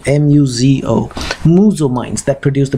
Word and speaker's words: Muzo: I think they're the Muzo mines, or how do you pronounce it, Muzo, M-U-Z-O, Muzo mines that produce the best emeralds, and